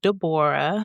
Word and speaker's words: Deborah: I pronounced my name Dborah.